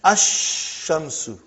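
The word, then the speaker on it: الشمس: And then ash-shamsu.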